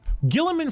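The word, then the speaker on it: Guilliman: Yeah, Gilliman. That's how it's said.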